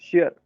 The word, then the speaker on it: sheer: दोनों का pronunciation same, SHEAR भी सेम प्रोनाउंसिएशन है, शेयर।